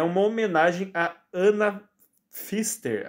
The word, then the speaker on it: Pfister: Enquanto seu epíteto específico é uma homenagem a Ana Pfister, acho que o P é mudo, né?